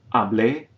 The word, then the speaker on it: hablé: Notice that two of the forms have written accents toward the end, which indicate which syllable, which vowel we stress when we pronounce the form. If there's no written accent, we stress the second to last vowel as in the first form. So we will have hablo, but the second and third forms, hablé and hablaría.